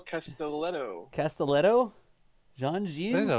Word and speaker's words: Castelletto: name because I want to make sure we pronounce it correctly. Yeah, I'm right. Sure I got that wrong. Castelletto.